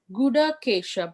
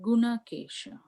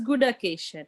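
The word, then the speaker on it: गुडाकेश: Yes, In the verse it says Guda Kesha, but you were saying Guna Kesha. No, sorry, I mispronounced it. It is Gunakesha. Oh, okay. Yeah. So it is Guda Kesha, right? Gudakesha, yeah.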